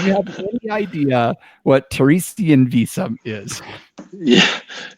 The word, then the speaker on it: Theresienwiese: Okay, Lars, do you have any idea what Teresian Visa is? Yeah, it's And before we go further, can you pronounce it the proper way, please? yeah. So let's pronounce Theresienwiese.